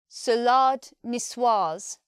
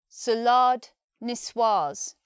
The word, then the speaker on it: salade niçoise: pronunciation this one is salade niçoise salade niçoise in this word we're not saying salad the second syllable is lard sounds longer this is the French